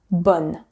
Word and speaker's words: bonne: And the sound is really different. Bon, that's the nasal vowel. Bon devient bonne. And here you open way more. On, bonne.